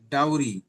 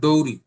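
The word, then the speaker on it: dowry: double you আর ওয়াই ডাউরি উচ্চারণটা আসবে ডাউরি নট ডৌরি ডৌরি না ডাউরি ডাউরি সিস্টেম যৌতুক প্রথা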